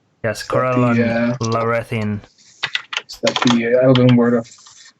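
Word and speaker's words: Corellon Larethian: I personally worship Corellon Lorethian. I think that's how it's pronounced. Yes, Corellon Lorethian.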